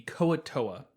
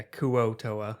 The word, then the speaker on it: Kuo-Toa: This week's monsters are the Kuo-Toa. Oh, I'm sorry, the Kuo-Toa? Kevin, help me out here. Yeah, Kuo-Toa.